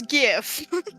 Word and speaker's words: GIF: It is the first word in that thing is graphic. Graphic with a hard G. It's GIF.